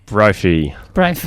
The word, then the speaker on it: Brophy: Brophy. Thanks. Rhymes with trophy.